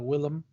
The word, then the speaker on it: Willem: for me everyone suddenly all William Dafoe it's a Willem but anyway the same yeah so you were saying it has mr.